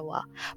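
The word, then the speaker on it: は: ejemplo la partícula Wa cuando es partícula que ya sabemos que no utilizamos el va de doble sino que se utiliza el Ja pero cuando se vuelve partícula se pronuncia Wa pasa lo mismo con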